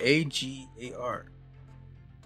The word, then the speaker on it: agar: A-G-A-R. Let's see. How am I supposed to pronounce this?